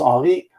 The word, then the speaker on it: Henri: So quickly, hello, my name is Henri. I am French speaking, so that's why I pronounce it that way.